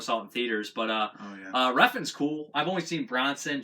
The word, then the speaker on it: Refn: I mean, it's just crazy, violent, and colorful, and I do think that Revan stepped up. Revan, or how do you say it? Refn.